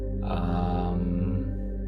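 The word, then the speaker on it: aum: the Mantra is um so it's spelled a u m and it's the a starts in the mouth the U begins in the throat and the m m Ates from the region of the chest so taking a breath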